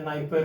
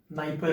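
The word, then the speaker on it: Dnieper: Black सी में आपको, आप सुने होंगे डनाइपर रिवर करके होता है कुछ, वो भी यहीं से ओरिजिनेट होता है, डनाइपर रिवर या नाइपर रिवर, डी साइलेंट कर दो, नाइपर रिवर।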